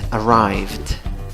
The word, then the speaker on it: arrived: Verbo número 2, como tu verbo acaba la pronunciación en una v, ¿ok? Con el ed la pronunciación va a ser v más d. Esa e final vuela, es decir, a la v le sigue d, ¿ok?